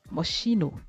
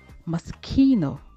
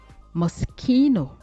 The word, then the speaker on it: Moschino: Et mes très chères modeuses, mes très chers modeurs, ne dites plus Moschino. Moschino. Il faut plutôt prononcer Moschino. Moschino.